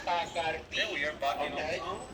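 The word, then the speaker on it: Bacardí: It is not Bacardi. It's Bacardi. That's an accent on the I.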